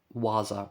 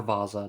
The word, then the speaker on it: Vasa: This is a 1:44 scale Wasa or Vasa, depending on whatever you want to pronounce it.